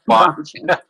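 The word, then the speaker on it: Bongino: I'll Bonino like Bon Bon. Yeah. Yeah. Bonino.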